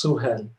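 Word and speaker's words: Suhel: pronouncing your name correctly yes it's s-u-h-e-l it's suhan excellent believe it or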